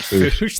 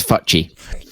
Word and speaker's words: Fuche: It's not Foosh. The E's pronounced. Shush. I think Midgeman's a little bit closer to the country than you've been. The E. Well, okay. The E on the end of German names is always pronounced, is it not? Yeah, no, it is. Yeah. Yeah, I believe it is. Okay, then it's Futchy.